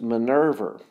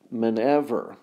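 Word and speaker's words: miniver: a fur collar and this is Minerva and then excuse me men ever and ever that's how you say it and it's inferior to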